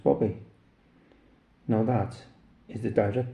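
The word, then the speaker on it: Bube: B U B E and pronounced Bobby.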